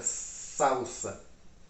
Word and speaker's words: salsa: Agora, essa mesma palavra salsa em espanhol, que a pronúncia também muda, é salsa.